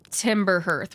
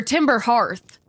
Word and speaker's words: Timber Hearth: with myself, I did Timber Hearth one time. Or Timber Hearth, is people also get upset about, okay? I'm gonna call it Hearth, because I think it rhymes better.